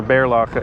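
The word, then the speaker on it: Berlagebrug: Yes, I know the stress for Berlagabrug is on the first syllable. It's just that when I'm speaking English, I find it hard to say that.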